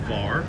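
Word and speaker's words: Hvar: Beach instead and bar the island of Var is spelled H V A R as the creations pronounce it.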